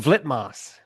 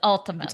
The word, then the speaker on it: Ultimas: yeah, we were calling him Vlitmas. So we did Yeah, that because of review the V instead because of the the U. V we just did it phonetically. And came back. They were like, great review, but it's Ultimus. It's Ultimas.